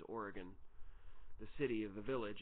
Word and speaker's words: Oregon: I am south of Madison in a city called or a village called Oregon, and we pronounce it Oregon, even though the state is Oregon.